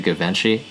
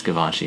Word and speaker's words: Givenchy: I've always pronounced it Givenchy, but it's Givenchy, huh? Yeah. Yeah. Okay. That's super cool though. It's the French, dude. It's the French.